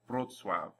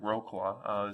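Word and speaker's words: Wrocław: them together in this name it sounds like brutwav if you ignore all these rules and choose to call it whatever you want probably something like rokua some people will understand what you're trying to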